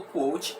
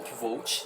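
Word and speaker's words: Kvothe: Aqui a gente vai acompanhar a história do Quoth, ou Quoth, tá? Você pode falar das duas formas, o próprio personagem diz a gente que a gente pode utilizar as duas pronúncias, tá?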